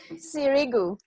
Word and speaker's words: Sirigou: Sirigou.